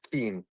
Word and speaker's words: Keyne: according to Google, it says Keen. Keen. So it is Keen. Okay. K. The phonetic pronunciation, apparently, according to Google, is Keen.